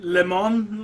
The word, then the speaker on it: Leman: you e e e I did used to pronounce Leman as lemon Russ yeah and then I realized how silly that sound sounded we got well even he's not he got lemon leemon like lemon lemon Leon